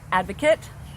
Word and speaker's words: advocate: know that to be a quick pronunciation correction advocate it's like photograph and photographer so advocate is she